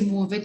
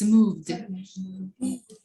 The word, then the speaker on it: moved: and washed thank you don't say move it it's moved okay well then who's